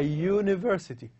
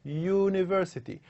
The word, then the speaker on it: university: this word a university university so we use the vowel U but the pronunciation is not like the word uncle not like the word ugly it's not up but it is a you sound as you can basically